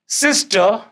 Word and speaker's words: sister: आ रहा है तो आर साइलेंट हो जाता है इसलिए हम इसको बोलते हैं हम इसको सिस्टर नहीं बोलेंगे it will be सिस्टर mother father इसी